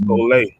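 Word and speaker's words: σχολή: Right, and that Greek word is pronounced skole.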